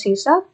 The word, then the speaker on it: C#: an programming language and it is pronounced as cab and it is developed